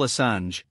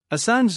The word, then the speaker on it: Assange: Julian Paul Assange, pronounced /SN/Sange, originally named Hawkins, was born on the 3rd of July 1971.